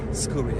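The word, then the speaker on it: Scuri: Scooi.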